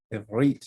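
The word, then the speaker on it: עברית: Ivrit is how you say Hebrew in Hebrew.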